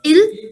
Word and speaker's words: ils: s is added and whenever we are making any french word plural by adding the letter s the pronunciation remains same that's why ils is also pronounced as ill and il is also